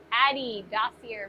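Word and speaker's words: Adi Dassler: Addy Dossier made Adidas. His brother made Puma. Oh, okay. I get it. An A in German is almost always pronounced like in farm, not like ads or hate.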